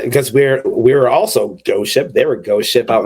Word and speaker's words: GHOSTxSHIP: make it I mean it's still pronounced Ghost Ship but for legal purposes it's ghost x ship that's like there was